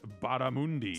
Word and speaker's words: barramundi: next to the word barramundi. Still in don't here. know what that is, but I'm glad that it's crispy. Here it says bar, mun, M-U-H-N, Okay. D-E-E, Okay. as their pronunciation guide.